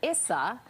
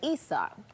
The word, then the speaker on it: Issa: She was being asked questions by an executive at Amex who called her Issa instead of Issa.